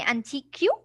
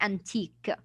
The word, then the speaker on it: antique: Like the word unique. Would I say antique? No. No, No. I will stop, of course, on the Q, then it would be antique.